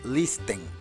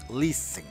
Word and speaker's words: listen: Y no es listen, es listen. La T no se pronuncia.